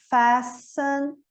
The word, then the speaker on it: fasten: exemplo, ele é house, horse, aí ele é pronunciado. Como a gente viu antes, o DJ, né? Judge, pledge. O T em fasten, essa aqui, complicadinha, né?